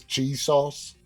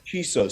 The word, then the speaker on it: Chisos: the middle of nowhere, they just pronounced it cheese sauce? Well, his name is Chisos, Chisos.